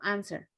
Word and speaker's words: answer: okay thank you jorge stop jorge observations future future and answer an answer chicos the w is silent so answer no no believe answer answer beautiful okay thank you and then yes the year 2017.